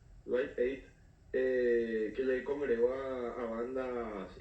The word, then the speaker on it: Live Aid: Hablaba específicamente del Live Aid, así se pronuncia, Live Aid, que le congregó a bandas históricas como Queen,